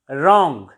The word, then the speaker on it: wrong: रॉन्ग, W is silent.